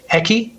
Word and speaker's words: eki: Another useful one would be train station, which is eki. Eki, okay. Yeah. And earlier, I think we talked about asking where the toilet was. Yes. Ore wa doko desu ka? So you can also say eki wa doko desu ka?